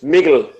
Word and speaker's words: Mikkel: So it's Mikkel. Mikkeller. Some people say, yeah, Mikkeller. I think that's actually. I'm trying to pronounce it like I'm from Copenhagen now because of like what they say.